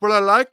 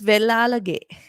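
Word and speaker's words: Wellalage: A very, very mature individual is is it Willalake? Is it how you pronounce it? It's Vellalage. Willalake. Apologies.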